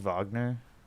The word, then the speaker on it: Wagner: see the spoilers Ben God damn it it's pronounced Wagner yeah yeah I'll call him Wenger I want to see the movie he uses